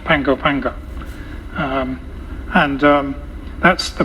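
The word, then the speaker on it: Pago Pago: p a o p a o but it's pronounced Pango panga um and um that's the base when I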